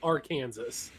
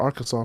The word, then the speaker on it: Arkansas: to make sure that it's not pronounced AR Kansas which it should be and make a law saying that it's illegal to pronounce it R Kansas because people are people